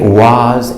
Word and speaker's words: was: oh oh or war two very important exceptions to the what rule we do not say it was and want this changes to the sound up like cup and cut and up was what and now we have